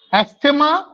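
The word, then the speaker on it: asthma: যেটা সবচেয়ে কমন, অ্যাস্থেমা বা যেটা আমরা বলি অ্যাজমা, অ্যাকচুয়ালি প্রোনাউন্সিয়েশনটা হচ্ছে অ্যাস্থেমা।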